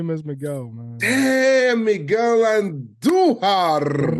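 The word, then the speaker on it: Andújar: Damn, Miguel Andujar. Roll your R's when you say Andujar.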